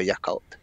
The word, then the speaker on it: Yakult: If you want to hit me up, I'm on the all the socials at Geo Yakult. Yakult, cool. Like the yogurt drink.